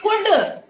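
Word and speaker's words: could: फिर है कुड. कुड में भी O और L साइलेंट है.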